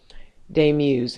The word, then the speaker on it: Daemuse: And remember, de muse is spelled d a mu s e.